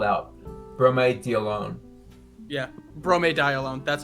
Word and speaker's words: bromediolone: I think RP would be a good sort of slang term for God, how do you actually pronounce it? I have it spelled out. Bromediolone.